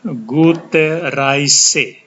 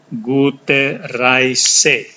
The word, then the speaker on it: Gute Reise: Ini cara bacanya Gute Reise. EI dibaca I, Gute Reise.